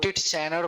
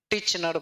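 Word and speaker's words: Titchener: इसको लोग टिट चैनर पढ़ता है, तो TIT साइलेंट हो जाता है, सेकंड वाला टिचनर पढ़ते हैं।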